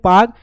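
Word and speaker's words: Palk: ये पाक नहीं पी ए के ये पाक नहीं। पाक पाकिस्तान वाला पार्क नहीं। ठीक है? तो ये पाक है। पी ए एल के है। एल साइलेंट है यहां पे।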